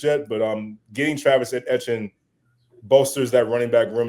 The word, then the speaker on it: Etienne: Uh they pronounce it as Travis Etienne. Like kind of like uh Devon Achane. If I'm if I'm Etienne. That's his name, Travis Etienne.